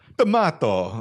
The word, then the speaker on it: D'Amato: Also, yeah, Joe D'Amato, D'Amato. Yeah. Like, you got to say it like that.